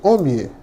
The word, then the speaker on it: Omie: Omni. Pronunciou correto.